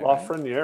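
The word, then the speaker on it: Lafrenière: If I hit a Lafreniere, I'll do that. Lafreniere. I'm saying it right. Lafreniere. Right? Yeah, you're doing great.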